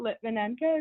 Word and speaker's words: Lytvynenko: And today we're blessed to have both Miss Sharon Currie and I might say your name wrong, Miss Jane Lytvynenko. Lytvynenko, is that correct?